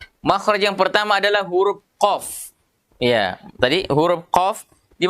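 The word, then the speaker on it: ق: Pangkalnya ketemu dengan langit-langit paling belakang ini. Disitulah makhrajnya huruf qaf. Jadi qa, qi, qu, baqo. Ah, kalau dia sukun dia ada pantulannya karena huruf qalqalah. Iya. Cara pengucapannya tidak boleh mengucapkan atau tidak boleh melafalkan huruf ini dengan memonyongkan mulut. Ya, kenapa? Karena huruf ini adalah huruf lidah, bukan huruf bibir. Jadi tidak boleh bibir ikutan ya.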